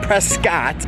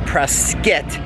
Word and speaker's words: Prescott: out here in presque not prescott like it's spelled it's pronounced presquette arizona i'm out here for